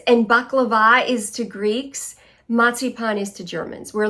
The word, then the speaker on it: Marzipan: I grew up with so much matsipan and it's not marzy pan. I think a lot of Americans say that it's matsipan. A z is pronounced as a tz.